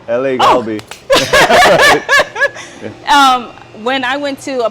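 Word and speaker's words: LA갈비: These kits are legit, especially the bulgogi, and I'm gonna kill the name, but I'm gonna say it anyway. Lagabi. Yep. Did I say it right? Galbi, yep. LA Galbi.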